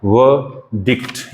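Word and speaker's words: verdict: तो व डिक्ट, यहाँ पे एक्सेंट आएगा आपका, व डिक्ट, व डिक्ट, व डिक्ट।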